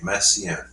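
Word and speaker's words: Messiaen: 20 views of the baby Jesus by Olivier messian Olivier oh his name yeah well both I mean Olivier massian yes there's there he is but any was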